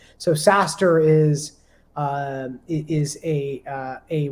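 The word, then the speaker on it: SaaStr: lot of that is a site called saster it's spelled s-a-a-s-t-r and uh to those in in the valley you'll know the acronym sas is software-as-a-service right so saster is uh is a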